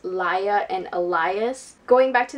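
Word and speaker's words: Laia: characters because when i was reading it i pronounce it as Leah and Elias but from what I've heard it's actually pronounced liya and Elias going back to the characters I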